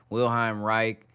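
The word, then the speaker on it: Wilhelm Reich: a bunch of things dude's name is William wilheim Reich uh it's not rice and it's resin it's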